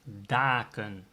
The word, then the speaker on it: daken: Same with dak. Plural is daken. There's a one consonant, a single consonant after the A. That means the pronunciation will become daken.